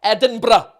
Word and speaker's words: Edinburgh: ed edinburgh edinburgh edinburgh if you want it in a proper scottish accent you've got a role they are edinburgh there you go that's my tutorial on how to pronounce it um yeah people